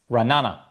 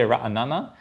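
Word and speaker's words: Ra'anana: Ranana, one syllable less. What is the correct pronunciation? Uh, yeah. You know, I never really thought about this until you brought it up, Stephen. Um, I say ranana, but I hear both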